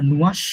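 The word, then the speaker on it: nuage: দেখেন নুয়াশ লেখা তো এখানে এটা নুয়াশ এরকমই হয় বাট একটু জ জ সাউন্ড আছে নুয়াশ নুয়াশ নুয়াশ নুয়াশ নুয়াশ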